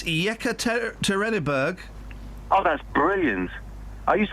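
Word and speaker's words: Yekaterinburg: first I want to hear what what's the pronunciation of that Russian town oh for crying out loud it's yeka terberg oh that's brilliant are used I have a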